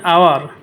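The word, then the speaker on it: hour: যেমন অ্যান আওয়ার, এখানে H silent. An honest man, এইচ এখানে সাইলেন্ট।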